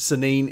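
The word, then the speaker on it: Saanen: Now, I have absolutely no idea how these how that name is pronounced around the world, but here in Tennessee, we pronounce it Sanin. At least that's the way I've heard it pronounced at goat sales.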